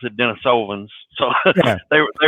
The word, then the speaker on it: Denisovans: the the latter groups DNA between the the Denisovans and the Neanderthals the DNA was discovered in